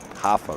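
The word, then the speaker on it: Rafa: Hafa Ras, they don't pronounce the R. Brazil.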